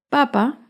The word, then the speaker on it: papa: Papa lleva el acento en la primera sílaba. En cambio, papá lleva el acento en la segunda sílaba.